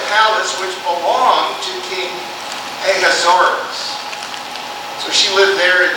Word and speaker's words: Ahasuerus: And I've heard it pronounced several different ways, but I believe it's pronounced Ahasuerus. Also Ahasuerus, possibly.